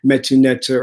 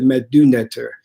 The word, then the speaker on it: Metu Neter: get into right now, which is the Metu nectar, or some people call it the Medu nectar. And, it's up to you how you want to pronounce it.